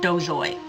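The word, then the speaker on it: Dozois: by george RR martin and gardner dozle is the pronunciation um they're mostly by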